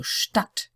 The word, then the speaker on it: Stadt: Sometimes you see words with a DT, and that's always pronounced like a T. So Stadt, zugesandt, Bewandtnis.